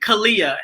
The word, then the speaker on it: Aaliyah: AALIYAH, am I pronouncing your name right?